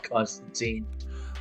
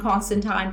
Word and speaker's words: Constantine: of John Constantine?